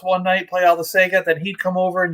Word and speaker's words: Sega: then i even like the way you americans say would you say sega is that right sega yeah sega yeah growing up as a kid in australia we said sega completely different pronunciation of the same thing it was the sega and